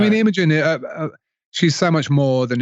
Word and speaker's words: Imogen Heap: Imogen, yeah.